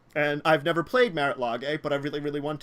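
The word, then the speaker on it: Marit Lage: That's why I have Merit Lage. And I've never played Merit Lage, but I really, really want to. I think it's pronounced Merilage or Lage.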